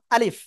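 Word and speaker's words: ألف: এই অক্ষরের নাম ছিল আলিফ কোন জায়গা থেকে উচ্চারিত হয় মুখের খালি জায়গা থেকে উচ্চারিত হয় আর শেষে নিজে ঠোঁটের পেট সামনের উপরের দুই দাঁতের আগার সাথে লাগিয়ে হালকা বাতাস বের হয় আলিফ আলিফ আলিফ সবাই তিনবার উচ্চারণ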